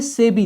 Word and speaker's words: SEBI: जैसे कि हमने लिखा SEBI, जिसको हम पढ़ते हैं सेबी।